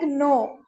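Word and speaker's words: know: And some examples uh like no uh we say uh the spelling is K N O W but we say that no N O W. Okay. And the K sound is what? Silent.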